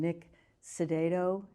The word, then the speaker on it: Nick Cidado: 31st 2024 and I welcome to the program Nick sedo did I pronounce that right yes you did oh goody